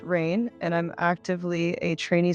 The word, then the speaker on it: Raiyn: and Stoners Community well my name is rain pronounced rain and I'm actively a